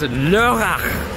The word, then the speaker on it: Lörrach: It is Lörrach. I still can't pronounce it right.